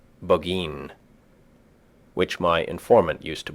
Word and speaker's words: Burgoyne: He pronounced it Boggeen, which my informant used to borrow.